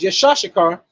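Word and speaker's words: יצחק: name will be Isaac Isaac is is is pronounced yashar and the Hebrew Isaac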